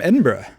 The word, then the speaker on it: Edinburgh: so aviva tell me about this woman from edinburgh is that how you say it okay good